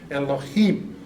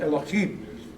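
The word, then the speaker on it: אלוהים: and let's see, like I used to pronounce for years and years, just because I thought it sounded really cool, Elohim, kind of a chim, right? Well, there's no chim in it.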